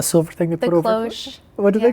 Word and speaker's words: cloche: Cloche. What do they call It's a cloche. It's called a cloche?